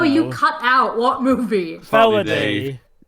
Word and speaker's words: Felidae: Felidae. Felidae. It's No. it's the English pronunciation of a Latin word.